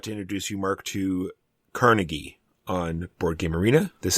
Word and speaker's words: Carnegie: Apparently, if you're in the know, despite the fact that people do say Carnegie, it's Carnegie.